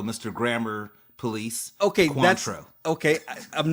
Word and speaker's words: Cointreau: I'm not gonna pretend like I know how to pronounce that because obviously I don't. It's called Cointreau, Mr. Grammar Police. Okay, Cointreau.